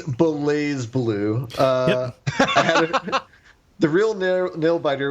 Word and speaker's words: BlazBlue: the fighting game BlazBlue, I might be mispronouncing that, might be Blaze Blue. I had a few great matches. Let's go with that one. Sorry, go ahead. I think it's Blaze Blue.